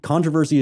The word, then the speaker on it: controversy: Controversy is the American way to say it.